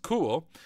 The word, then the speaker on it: CeWL: for a specific tasks overview cool pronounced cool is a custom wordless